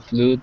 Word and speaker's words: flood: meanwhile, were shown to flood their body with an extra 10% of red blood cells during their dives. Great, Hussein. Just one word here. This word here is flood, and it rhymes with blood.